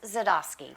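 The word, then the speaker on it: Dzadosky: Please welcome back the one, the only Board of County Commission Chair, Chris Zadosky.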